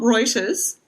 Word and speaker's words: Reuters: So this is actually from Reuters, which that's how it's pronounced. I double-checked. Raiders, mate. Reuters.